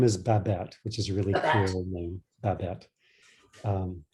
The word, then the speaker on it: Babette: say it again uh her first name is babat which is really cool um rothschild r-o-t-h i've